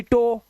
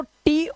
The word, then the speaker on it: to: अच्छा जब सोचा हमने कि एस ओ सो होता है तो टी ओ टो होना चाहिए। नहीं ये होता है टू।